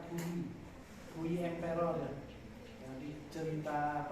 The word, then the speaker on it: Puyi: Tulisnya Puyi tapi bukan Puyi, bacanya Puyi.